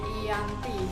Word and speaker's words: Giyanti: Dalam pelafalan Belanda, ia tersebut sebagai Ianti dan secara tertulis ia terbaca sebagai Giyanti.